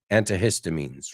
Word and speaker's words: antihistamines: But some people dice ay más como antihistamines, right? Más como suave. Antihistamines. Lo importante que es diferente que el español, la H se pronuncia.